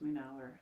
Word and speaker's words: Munawar: it's it's pronounced my an hour and munawar is bringing that Light